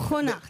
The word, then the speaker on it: Schoenaerts: Ah, ça- En France, on prononce Schoenaerts. Schoenaerts.